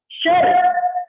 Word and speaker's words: शर: अब आपको पता है कई बार कुछ लोगों का उच्चारण अशुद्ध होता है, और अशुद्ध उच्चारण के कारण वो श को स बोलते हैं, अशुद्ध, अशुद्ध, दोनों में अंतर है।